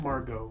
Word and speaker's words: Margot: It's Margot. That's like weird. Why is there a T in there? I hate silent letters.